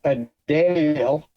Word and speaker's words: Adele: like I'm not like a Dale that's how you pronounce her name Adele everyone pronounced it wrong I'm I'm guilty of